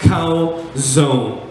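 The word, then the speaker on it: חזון: cows own CH AZ open but it is pronounced cow zone in the chasm calzone okay chapter three verse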